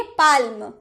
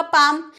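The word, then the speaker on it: palm: अगर आप बचपन में होंगे आपको नहीं पता होगा कि एल साइलेंट है तब जरूर बोले होंगे पालम लेकिन जब आपने जाना कि एल चुप रहता है तब आपने बोला होगा पाम लेकिन चुप कब-कब रहता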